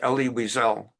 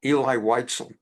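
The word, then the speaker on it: Elie Wiesel: or four months that the name is pronounced Ellie Weisel not Eli Witel and if it's true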